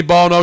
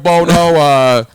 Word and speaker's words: Bono: We'll go full Sonny Bono, Sheriff Bono. What was the daughter's name? Steve Bono. Steve Bono. Bono or Bono. Bono. Spelled the same way, pronounced Bono. Differently, yes.